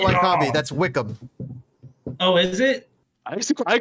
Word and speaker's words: Wycombe: Wickham? Are you talking about Wickham Wanderers? No, the third place Jones. team. Wickham. No, he was huge. His name was like It's not Wycombe. That's Wickham.